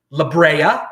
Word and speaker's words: La Brea: I didn't plan on running 8 miles, but I ran down La Brea. I'm pronouncing it correctly now, all you LA people.